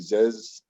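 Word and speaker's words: Zyzz: to one guy that this guy named ziz aziz abershan it's spelled like z y z uh he was uh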